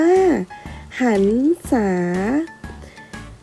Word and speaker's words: หรรษา: ที่ 1 นะ คะ เมื่อ ระหาร อยู่ หลัง พยัญชนะ และ ไม่ มี ตัว สะกด นะ คะ ให้ อ่าน ออก เสียง เป็น ไม่ หัน อา กาด นอ หนู เสมอ ดู ตัว อย่าง นะ คะ คำ ว่า หรรษา หรรษา นะ คะ เพราะ ฮีบ รอ หาร ทำ หน้า ที่ เป็น ไม่ หา ใน กาด นอ